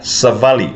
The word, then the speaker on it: savali: Also same as the word savali. With a short A, it means to walk, and savali, with a long A, it means message.